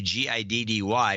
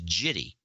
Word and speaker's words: giddy: So he sees that G, thinks it's a soft G, and he says jitty instead of giddy.